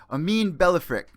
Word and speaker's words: Amine Ballafrikh: I got another special guest from Lion Fight who just fought last weekend, Amin Ballafrikh. Am I pronouncing that correct?